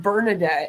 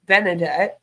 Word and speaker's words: Benedette: found for same woman good old benedet because I think that's how you pronounce that it's not bernardet it's like benedet which states she's an